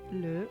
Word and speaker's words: le: So, le would be, I think, a schwa.